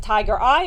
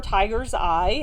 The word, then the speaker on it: tiger's eye: Remember you can pronounce it tiger eye or tiger's eye. And and and I don't mean it plural like more than one tiger. I mean it tiger is with an apostrophe, a possessive uh tiger's eye.